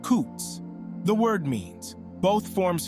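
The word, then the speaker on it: חוץ: The word that is translated outside is a Hebrew word, chutz, pronounced kutz.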